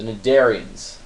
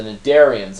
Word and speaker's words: cnidarians: lot of people, the cnidarians. Now the cnidarians, again, if you want to sound smart in the party, do not call them cnidarians, because that's wrong. The C is silent because scientists hate you, and they want to